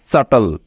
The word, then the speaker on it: subtle: মনে রেখো শব্দের শেষে TLE এই তিনটি বর্ণ একত্রে থাকলে তার উচ্চারণ সবসময় টল এর মতো হবে। ঠিক আছে? মনে থাকবে তো? কারণ এটা হলো একটি ওয়ার্ড প্যাটার্ন। বোঝা গেল? তাহলে এই শব্দটার উচ্চারণ কেমন হবে দেখো। দন্ত স, আকার, টল, এদেরকে একসাথে যোগ করলে হয়ে যাবে সাটল। সাটল, ঠিক আছে?